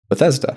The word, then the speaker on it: Bethesda: Well, I pronounce it like the city that they're founded from. Bethesda. Bethesda. Yeah. Bethesda. Um so that controversy is over. It's Bethesda. Um there was a controversy. I can't I'm mad that there was one. I've actually seen Reddit Reddit uh conversations where they're like debating is it Bethesda or Bethesda and I'm like I'm pretty sure it's Bethesda. Yeah, cuz that's the city.